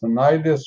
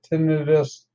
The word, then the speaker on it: tinnitus: ringing in the ears also known as tinnitus or tinnitus depending on who you are and how you say it well that's what you